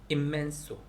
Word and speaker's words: inmenso: 그 다음에 immenso, inmenso인데 뒤에 둘 다 m이 n 뒤에 m이 와가지고 그냥 m 발음이 immenso, 이렇게 광대한 이런 뜻이라고 합니다.